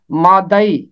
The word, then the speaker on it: مادئی: نام ہے وہ ہے مادئی، یہ مادی نہیں ہے، مادئی، دال کے اوپر زبر ہے۔ نہمیہ 3 باب کی